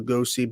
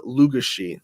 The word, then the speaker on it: Lugosi: original frankenstein of course bella lugosi belt bella lugushi i originally pronounced the actor's name of